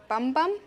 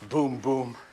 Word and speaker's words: Bum-Bum: your name is dr bum-bum actually it's pronounced boom boom i had to change